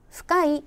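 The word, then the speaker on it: 深い: 우리 는 이렇게 쓰고 , " 후카이 " 라고 발음 합니다 . 얕은 것 을 뜻 하는 " 아사이 " 와 깊은 것 을 뜻 하는 " 후카이 " 는 서로 반대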